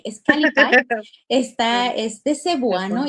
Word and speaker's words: Kalipay: Está escrito en cebuano, que casi todo el mundo me lo pronuncia en inglés y luego me dicen es el Calipay, pero no, no es Calipay, es Calipay.